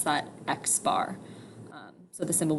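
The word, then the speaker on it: x̄: it has a bar over it so we pronounce that x bar so the symbol b is for the mean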